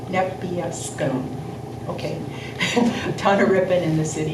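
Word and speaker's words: Nepeuskun: never say it right, Nebiescum. Yeah, you said it, right? Did I? It's an Yes. N at the end, not an M. Nebiescum.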